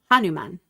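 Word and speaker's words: Hanuman: Anuman.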